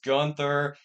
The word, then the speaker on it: Gunther: I don't say Gunther because I looked up the real German pronunciation of his name, and it's actually closer to Gunther than it is to Gunther, so I say Gunther now.